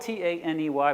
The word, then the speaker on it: Taney: Yeah, Taney is how you pronounce it. It doesn't make any sense. It's spelled T-A-N-E-Y, but yeah, it's Taney.